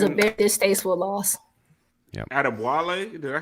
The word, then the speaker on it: Adebayo: Adebwale, did I say that right? Adebawale? Adebawale. Yeah, Adebawale. Thank you, Moose. You're welcome. With your African pronunciation expertise.